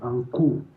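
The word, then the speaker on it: N'Ko: qui s'appelle l'enseignement par NCO. Le NCO, ça s'écrit NKO.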